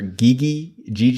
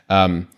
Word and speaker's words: Gege: I still don't know how to pronounce this guy's name. I need to listen to like an interview or something where they pronounce his name, but I think it's Gege.